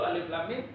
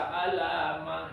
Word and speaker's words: alif lam mim: Kalau kita bacanya benar, alif lam mim, betul gitu. Tapi ada yang karena nggak bisa alamah gitu. Bukan alif lam mim tapi alamah gitu.